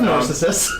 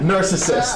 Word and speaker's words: Narcissus: yeah, Narcissus. The mirror of Narcissus. Narcissus. Narcissus. Yeah. You're putting the emphasis Totally on the wrong different. syllable.